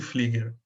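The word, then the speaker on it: Pflüger: Agora, eles vão fazer o que a gente chama de leis de Flieger. Flieger era um fisiologista, acho que é alemão, né? E o Flieger se escreve Pfluger, P-F-L-U tremado G-E-R, tá?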